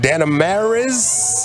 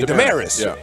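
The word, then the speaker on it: Dameris: the Mavs announcer Brian danz am I saying his name right Brian Dez de okay Demaris just Demaris uhhuh why why I put like extra syllables all up in his name bro he's got I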